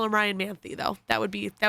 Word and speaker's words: Ryan Manthey: y if you see them out call him Ryan manthy though that would be that would be the correct pronunciation but it's easier to spell the other